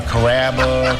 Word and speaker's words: Kaba: a real Sicilian name growing up people always had a hard time pronouncing my name people chop it up pretty good you know Kaba kababa Kura it's a really easy name to pronounce it's Kaba come to